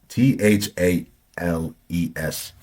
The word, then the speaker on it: Thales: I'm hoping I'm pronouncing right. T H L T H A L E S.